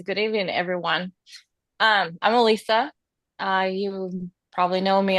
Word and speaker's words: Alisa: And uh we are privileged and honored to have um Alyssa. Alisa, I keep saying your name wrong.